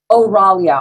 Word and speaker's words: Aurelia: Aurelia? Oralia. All the vowels are short except for the O.